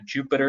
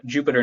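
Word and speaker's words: Jupyter: a python notebook or sometimes called a Jupiter notebook j-u-y sir j-u-p-y-t-e-rs how it's spelled but uh Jupiter notebook this is basically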